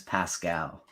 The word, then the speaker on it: Pascal: I can finally tell you his name is Pascal ah Pascal Pascal come on man it's close